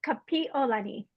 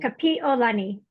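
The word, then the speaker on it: Kapiʻolani: to scaffold learning a language and like even pronouncing new words. it's two parts. So Okay. it's Kapi'olani. P. Olani? Olani. Kapi'olani.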